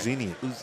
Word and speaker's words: Uzinian: It's Uzan, right? Uzinian. Is it really? Uzinian, yes. Uzinian.